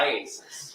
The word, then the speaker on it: IACIS: it Isis yes how do you say iasis iasis all right shorten for today yes let's just